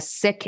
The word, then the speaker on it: Sikh: sikhi I am a sick it's spelled s-i-k-h where as we try to decolonize language it's properly pronounced as thick and not seek father was turban beard